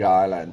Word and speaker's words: island: is a very big island yes all right great guys Island silent s next word listen up